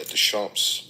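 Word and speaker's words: Deschamps: Desamps. Damps. Okay. French, but it's it's spelled like the champs.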